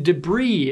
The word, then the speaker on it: debris: silent B in it the s in debris is silent but the s in